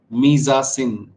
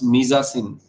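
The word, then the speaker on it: mise-en-scène: the answer answer is misin very very interesting so in Hindi I'm writing the pronunciation because it's a French term so it's it's pronounced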